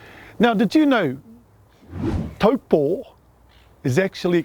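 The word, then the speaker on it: Taupō: now did you know taupo is actually correctly pronounced as an macron over the last o poor and did you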